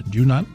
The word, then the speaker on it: Dunant: and the author was with us is Sarah do not beautifully pronounce ha ha everybody get right and you